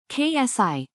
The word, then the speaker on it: xi: the reachability distance often called she pronounced KSI measures how far away